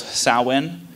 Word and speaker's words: Samhain: But when we're talking about Halloween, we're talking about something that started in the Celtic condition called Samhain. It's spelled S-A-H-W-E-I-N.